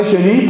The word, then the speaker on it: Chenu: Tenemos ahí al padre Chély, por ejemplo, que hay gente que no lo quiere, pero entre nosotros yo creo que todos lo queremos y lo valoramos muchísimo.